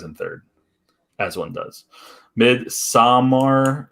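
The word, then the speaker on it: Midsommar: third as one does mid samar it's swedish not mid samar there you go you're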